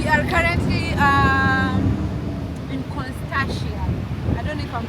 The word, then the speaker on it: Constantia: Yeah, we we are currently um in Constia. I don't know if I'm pronouncing it correctly, but yep. Constantia.